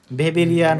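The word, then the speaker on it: Weberian: কি বলা হয়েছে বলতো ভেবেরিয়ান ওসিগল বলা হয় জার্মান ভাষায় ডর এর উচ্চারণ কি ভি এর মত হয়ে থাকে এজন্য এটা কিন্তু ভেবেরিয়ান ওসিগল হয়ে গেছে বা ওভেরিয়ান ওসিগলও বলতে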